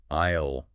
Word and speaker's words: aisle: Aisle. That sounds a bit tricky. Yeah, the "es" is silent.